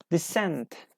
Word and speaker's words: descent: is a correct answer descent descent 13 descend number 13 which letter isn't pronounced for descent descent the scent is C yes C is a correct answer for for number 13